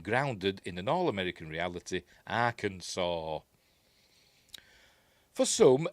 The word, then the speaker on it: Arkansas: Why is it pronounced Arkansas? It's got an S at the end.